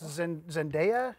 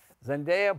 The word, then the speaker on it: Zendaya: It's Zendaya, I think is how you say her name.